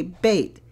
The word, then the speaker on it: bait: Number 7, BAT, if we put an I in there, the A becomes long, the I is silent, and we say bait.